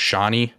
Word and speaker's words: Shani: The bonus answer was I think it's pronounced Shani. Oh That's- god, yeah, it's Shawnee.